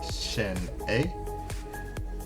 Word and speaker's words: Sin'e: Pup is called the pronunciation uh is called sin a it is uh spelled s i n apostrophe e pronounced Shen a um an English uh like I said an